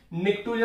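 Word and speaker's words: pnictogen: नाइट्रोजन family को हम निक्टोजन भी बोलते हैं। नाइट्रोजन फैमिली को क्या बोलते हैं, निक्टोजन। निक्टोजन कैसे स्पेलिंग लिखोगे, निक, पी साइलेंट होता है, निक्टोजन।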